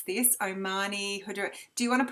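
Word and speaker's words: Omani Hojari: It's also known as Oman frankincense, and I can't pronounce this, Omani Hudra. Do you want to pronounce that for me, Michelle? Amani Hajari.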